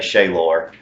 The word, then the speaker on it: Shalor: My actual name is Shaylor III, which I say Shaylor. It's spelled Shalor, but if you ask my dad what his name was, it's Shaylor.